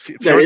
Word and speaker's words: Fjord: Is that how you pronounce it? That Fjord is how you Consulting Group?